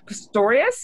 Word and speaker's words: Pistorius: has as she was an SLP for Martin Pistorius is am I saying it correctly Erna yes